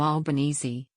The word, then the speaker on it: Albanese: His friends pronounce his name Albanese, like Bolognese. But having been repeatedly corrected over the years by Italians, the nationality of his absent father, he introduces himself and is widely known as Albanese.